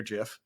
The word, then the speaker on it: GIF: you said there was the pronunciation of the word gif it is 100% a hard G it is absolutely a